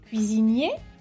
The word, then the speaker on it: cuisinier: Por ejemplo, cuando la palabra termina en ER, ER, la forma masculina se pronuncia E y la forma femenina se pronuncia R.